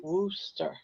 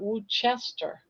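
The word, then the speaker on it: Worcester: Even just said, "Sounds like Wooster." Then why do they put Woo Chester?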